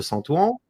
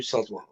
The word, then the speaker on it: Saint-Ouen: Donc la porte de Saint-Ouen, c'est ça, je le prononce bien? Ouais, c'est ça, la porte du Saint-Ouen.